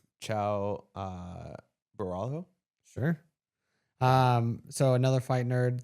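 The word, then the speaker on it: Caio Borralho: Ciao Borralho.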